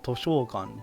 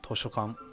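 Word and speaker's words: としょかん: I pronounced that incorrectly. I said toshokan, but it's not. It's toshokan. And what's the difference, you might say? I made the O sound here, the sho sound, the sho part, I made the sho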